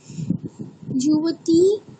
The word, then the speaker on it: युवतीः: ददाति मूर्तये युवती ददाति দেখো এক বচনের ক্ষেত্রে বিসর্গটাকে একটু উচ্চারণ করো, ঠিক আছে, না হলে দ্বিবচনের মতোই শুনতে লাগছে, মানে যুবতীহি, ওই যে বিসর্গের উচ্চারণটা করো।